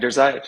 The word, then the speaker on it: Drzayich: how do you say your last name? Drzayich? Yeah, you got it. Drzayich, exactly. Yep, Second it's time.